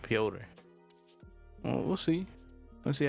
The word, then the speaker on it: Piotr: That's how they pronounce it, Piotr.